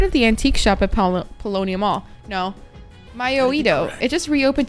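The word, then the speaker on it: Paulownia Mall: Maybe I oughta hit up Paulina Mall. Polonia Mall.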